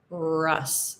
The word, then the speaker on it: Russ: difference in pronunciation so with the O it's Ross Ross and with the U it's Russ it's an uh that's a very American English sound uh uh so it